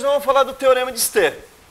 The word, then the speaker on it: Stevin: Dependendo de quem for dar aula para vocês, o cara vai chamar isso aqui de Steven, tá? Depende da pronúncia do cidadão aí, tá? Eu prefiro chamar de Stevin mesmo.